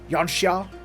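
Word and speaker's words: Yanxia: the confederacy's gift Yan I'm going to say yansa because that's how it's spelled I know that the game actually wants me to prounce it yania but it's yania yania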